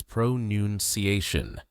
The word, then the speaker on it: pronunciation: They think the noun pronunciation should sound like pronoun ciation because of the word pronounce. But here's the mistake. The correct word is pronouniation. There is no noun sound in the middle. It's noon, not noun.